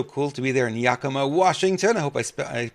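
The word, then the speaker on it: Yakima: guys were so cool to be there in Yakama Washington I hope I I pronounced that right yep okay that was great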